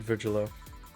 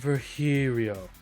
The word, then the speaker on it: Virgilio: You look winded, Virgilo. It's pronounced Virhirio.